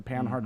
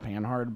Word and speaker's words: Panhard: panhard rod which pause actually panhard it's spelled panhard but because French is a stupid language every letter after the second one is silent it'd be like pan now probably it's wrong to